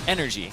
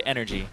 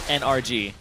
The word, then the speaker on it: NRG: one wrong either it's energy yes they want you to say energy never NRG and NRG doesn't even stand for energy it stands for NRG but you don't say it that way pronounce that it's